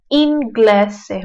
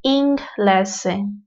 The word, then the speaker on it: inglese: masih apa ya, masih terbiasa kalau ada N plus G itu dibacanya ang. Tapi tidak guys, ya di sini n kayak inglese, itu dibacanya inglese, bukan inglese.